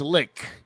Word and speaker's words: lich: right here we go a lich like birch but it's not lynch it's lick that's correct pronunciation now oh if it's